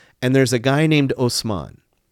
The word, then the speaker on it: Osman: there's a guy named Osman Osman is just the Turkish pronunciation ofman so it's just